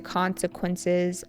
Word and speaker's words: consequence: have to face the consequences of your actions. Consequence with an emphasis on the first syllable.